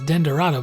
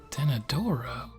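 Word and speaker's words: Denadoro: think about these pronunciations in my head it was always den Dorado but then I actually looked at it when I was really I was like ten adoro but enough about me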